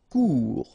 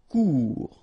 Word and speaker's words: court: Court. Final T not pronounced. Court. Remember, when you combine this O and U together, you get the sound OU. Court.